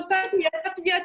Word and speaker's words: papillote: So papillote, it's almost related to papillons, which is some sort of butterfly.